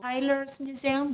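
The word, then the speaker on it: Teylers Museum: There is a really beautiful windmill and one of the oldest museums in Netherlands, which is called Tyler's Museum. Do I pronounce it correctly?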